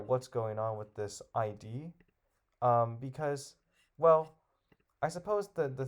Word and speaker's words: Id: The Wizard of Id. And I don't know if it predates the Wizard of Oz, but it just happened to be like a place name, so that's cool. Just pronounced id.